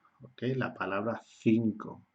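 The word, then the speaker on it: cinco: Tenemos esta C y tenemos esta C, pero como la vocal que le sigue es la I, tenemos que pronunciar Z. Y como la vocal que le sigue aquí es la O, es k, k, k, 5, ¿okay?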